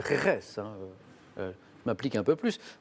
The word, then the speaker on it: Jerez: J'ai prononcé Gérèse, je pense que c'est Jerez.